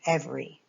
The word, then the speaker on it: every: Remember the E is e, v. The E is silent here, and then we have the and this Y sounds like an E. So we v, E. Every. Every.